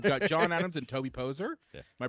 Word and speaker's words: Poser: Hey, we've got John Adams and Toby Poser. Yeah. Am I pronouncing that right?